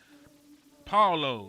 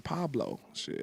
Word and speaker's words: Paulo: Paulo is pronounced Paulo. Oh, I've been hearing Pablo I don't know.